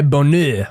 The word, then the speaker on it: Bonheur: Our next story is by My Bonheur, which is definitely meant to be pronounced in a French accent and no way else.